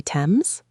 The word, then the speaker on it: Thames: That is the Thames River. How do you spell it? It is spelled Thames. Wait, but you say Thames? Yes, the H is silent.